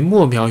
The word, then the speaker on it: 魩鱙: 捕捞布拉希的产业为墨苗渔业，没错的话读音为茉莉的茉，豆苗的苗，体长 4